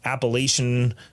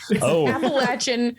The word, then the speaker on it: Appalachian: appalachian mountains um but i pronounce it apple because there's a a in it um but as opposed to the way okay there's an a not an ah we play d d